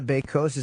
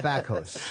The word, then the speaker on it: Bakos: You're Nada Bakos. Am I saying it right? What kind of name is that? Bakos is Polish.